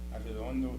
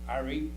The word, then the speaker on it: Arredondo: Now, if you split it in syllables, which is A-R-R-E, Arredondo, Arredondo.